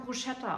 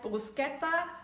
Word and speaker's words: Bruschetta: ich jahrelang mosino gesagt da musste in der Tat eine Italienerin kommen und mir erstmal sagen heißt moskino heißt brusketta und das heißt nokis und ich okay aber